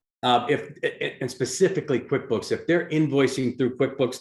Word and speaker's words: QuickBooks: name like I thought right rhymes with Mick books opposite of uh of slow periodicals is that close so yeah it's QuickBooks it's accounting software like